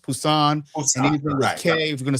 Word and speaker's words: Busan: dealing with Korean if if it's the letter B in English, it's pronounced P. Right. Like like the city of Busan is pronounced Pusan.